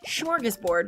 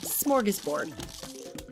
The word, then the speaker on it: smorgasbord: However, I realize now looking at it that I have been pronouncing it wrong because I've been saying it smorgasbord with like an SCH, and it's just SM, smorgasbord.